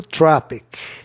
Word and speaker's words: tropic: Trópico, tropic. E tropismo, tropism. Tropic, olha, sempre que termina a palavra em IC, a tendência do O é soar A, tropic.